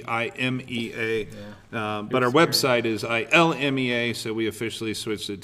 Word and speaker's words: ILMEA: ILMEA.